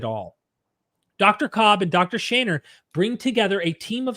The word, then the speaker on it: Shaner: Shainer. Am I pronouncing that properly still?